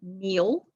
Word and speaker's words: knee: running then we have the spelled with k in like kneel knee knock knot knife knit and knack and oh knits down